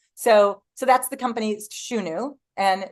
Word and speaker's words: Shunu: So So that's the company's Shunu and Shunu. S hu n u um is how we pronounce it.